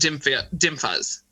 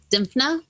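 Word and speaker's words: Dymphna: Dimphas. Is that how it's pronounced? Dimphna?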